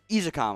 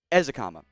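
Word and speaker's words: Ezukanma: the better ones uh izakam i mispronounced it earlier eric ezakama uh is is a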